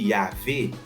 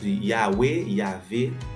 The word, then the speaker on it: Yahvé: des fois dans VA yo te prononcer comme un W, c'est ça qui fait ou après gagner côté mon yo dit Yahvé pendant ce temps en pile l'autre monde tout dit Yahweh. OK, c'est Yahvé, c'est même bagarre là mais c'est juste prononciation et langue qui modifiée dans des temps différents.